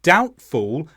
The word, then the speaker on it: doubtful: B comes after M and then doubtful and debt where the B comes before the T in all of these words the B is not pronounced there are some exceptions